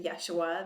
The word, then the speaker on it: Yeshua: Some people say Yeshua. They pronounce it different, and that's fine, however you pronounce it. Because I can speak a lot of foreign languages, I'm pronouncing it the proper name in Hebrew, which is Yeshua, and that was his Hebrew Aramaic name.